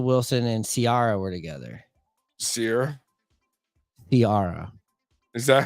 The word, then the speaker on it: Ciara: Ciara?